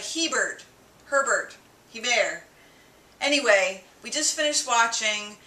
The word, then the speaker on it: Hebert: Hebert. It's like Hebert.